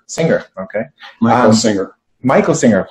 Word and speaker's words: Singer: Singer.